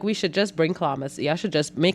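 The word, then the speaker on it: chlamys: word for today clamas spelled c-h-l-e-m-y-s pronounced klamas if clowns is new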